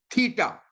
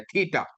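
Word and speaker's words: theta: और प्रोनाउंसिएशन जैसे मैंने आपको कहा है कि थ, जैसे थिंक इंग्लिश का लफ्ज है, तो थ, थ इसकी जो सी आवाज है वो निकलती है, थीटा।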